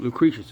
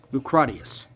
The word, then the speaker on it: Lucretius: I wrote other kinds of books, like, as you pronounce it, Lucretius. It's actually Lucratius.